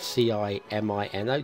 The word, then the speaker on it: Cimino: Heaven's Gate, directed by Michael Cimino, I think that's how you pronounce that, C-I-M-I-N-O, Cimino, held the world record for the most money lost on a film at $34.5 million.